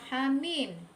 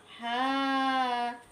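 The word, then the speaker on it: حم: Contoh yang kelima ada kata hamim. Hanya kita baca 2 harokat dan mimnya kita baca 6 harokat. Hamim.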